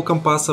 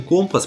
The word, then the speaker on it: компас: Видимо, одного компаса было мало. Кстати, небольшой факт, который я только недавно узнал. Термин «компас» произносится так на суше, а моряки на своем сленге говорят именно «компас», потому и в кино так странно звучит.